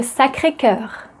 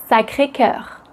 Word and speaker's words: Sacré-Cœur: Montmartre ou le Sacré-Cœur. Montmartre Mat. Mon mat. Montmartre. Montmartre. Le Sacré-Cœur.